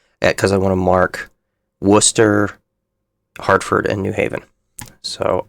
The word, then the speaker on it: Worcester: We're going to just use the town because I want to mark Worcester, Hartford, and New Haven.